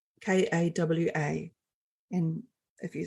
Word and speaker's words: kawakawa: And the first plant that we worked with is a plant called kawakawa, Kawa. And if you spell it back to front, it's waka.